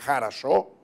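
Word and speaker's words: хорошо: distinto, como por ejemplo en ruso se dice «harasho», en ucraniano no se dice sino «garasho», o los rusos hablan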